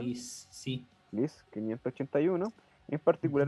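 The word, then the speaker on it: Gliese: Ya, dice, entre dicho descubrimiento destaca el sistema GLISE, o GLIS, ¿cómo se pronuncia? Liz, sí.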